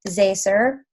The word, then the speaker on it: Zaycer: special guest speaker tonight her name is Steph say sir I think I said that right she gave me like the - attic or the hyphenation on how to say it so steps a sir she is an emerald